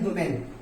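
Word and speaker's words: women: अगर ये तो हो गया सिंगुलर, अगर हमें कहना हो बहुत सारी औरतें तो विमन होता, विमन याद रखिए ये प्लूरल होता है, इसे कहते हैं विमन, इसको कहते हैं वुमेन।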